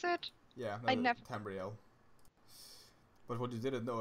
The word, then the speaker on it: Tamriel: Is that how you pronounce it? Yeah, I no, never. Tamriel.